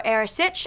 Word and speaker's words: Earasaid: So first off, what is an Earasaid, or Arisaid, as some people may pronounce it?